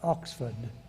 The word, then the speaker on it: Oxford: I was at Magdalen College, Oxford. We pronounce it because we're like that, Magdalen.